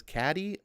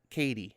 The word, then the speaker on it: Caddy: It's Caddy. How are you supposed to pronounce that? Is it Katie? Katie, says Ed Brewer. All right. Thank you. Thank you, RDV and Ed, for correcting me. I will pronounce it Katie going forward.